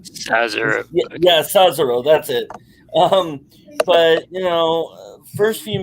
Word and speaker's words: Cesaro: How is it pronounced? Mess around. Sazaro. It's Sazaro. Cesaro. Yeah, Cesaro.